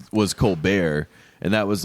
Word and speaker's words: Colbert: was like everyone liked kelsey so whatever stephen colbert pronounced his brother pronounces it colbert and he pronounces